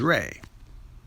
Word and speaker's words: Ra: head which is raw raw can also be pronounced as ray r-e and when raw traveled